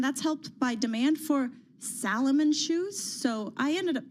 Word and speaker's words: Salomon: beat estimates, and that's helped by demand for Salomon shoes. So, I ended up Did I mispronounce that one? Salomon.